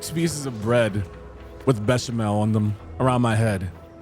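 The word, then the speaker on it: béchamel: Beckamel is pronounced Bashamel.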